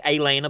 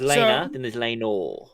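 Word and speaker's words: Laena: wife Elena Elena just Elena just like Elena but without the a at the beginning okay Elena there's Elena yeah so she talks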